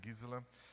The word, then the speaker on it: Gisela: Se escreve Gisela, né? Mas é Gisela.